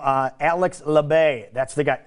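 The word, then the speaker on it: Alex Labbé: a hard time mentioning of this dude's name Alex lebay that's the guy Alex lebay that's how you say his name finished in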